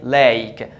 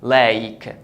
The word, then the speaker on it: Lake: in this case it pronounced the vowel as its name the name of the letter is a so you say a lei Lake so this is Lake